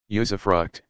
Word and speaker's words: usufruct: Usufruct, pronounced usufruct, was an aspect of ancient Roman law.